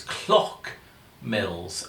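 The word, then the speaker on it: Clough Mills: and nature reserve but I'm not sure how it's pronounced it's spelled c l o u g h m i l l s I was but it sounded as though it was clock Mills as in like a clock but then I wasn't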